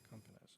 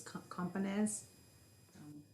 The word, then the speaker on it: Companez: Campanez, I don't think it's like a hard O. I think it's Companez.